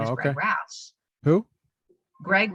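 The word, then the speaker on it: Raths: win the primary, and his name is Greg Rass. Who? Greg Rass. Can you spell it? It's R-A-T-H-S. Greg Rass.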